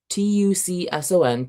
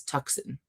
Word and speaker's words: Tucson: the way through because so many words were mispronounced. Even like places too, like Tucson. T U C S O N, Tucson, Arizona, the name of a city, was consistently throughout the entire book read as Tuck-sun.